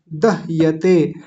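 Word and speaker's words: दह्यते: बोला जाएगा परी दहते ध्यान दीजिए दहते ह आधा है य पूरा है और त पर ए की मात्रा है दह यते ते देखिए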